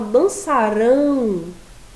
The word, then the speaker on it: dançarão: E quando a gente fala dançarão, vejam a diferença, já é a última sílaba que é a mais forte, tá?